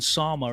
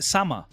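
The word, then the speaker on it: 様: that if you notice actually logan sama is not how you pronounce the the japanese word because i read it on a on a piece of text that is how you pronounce it no it's a summer and i say sama that's like the same no it's different so uh yeah that's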